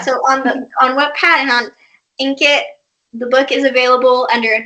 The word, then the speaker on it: Inkitt: If you don't want to click on that, go on to Wattpad or Inkit. That's how you pronounce it, right? It's Inkit, yeah.